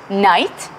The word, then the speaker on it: knight: the first question is what is similarity of pronunciation in these two words night and honor we don't say the first letter that's exactly what the